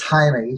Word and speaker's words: Jaime: His name is Jaime. He's Hispanic. And she calls him Jamie, which I think is pretty clever that she mispronounces her husband's name, but I guess they don't care enough about that.